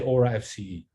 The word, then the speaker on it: Orafce: I say Orafce.